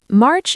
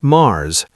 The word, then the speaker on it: March: Notice the ch sound at the end. March. Not Mars. Not marsh. March.